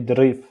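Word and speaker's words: ظريف: Gentil, on dit drif. Donc, on prononce drif.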